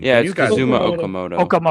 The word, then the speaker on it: Okamoto: They also brought in that um I forget how to pronounce his last name. He's got Zuma Okamoto. Okamoto.